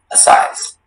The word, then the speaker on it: assize: Assize. Assize. May I have the part of speech? Assize is a noun. Assize. Are there any alternate pronunciations? There is just the one, assize.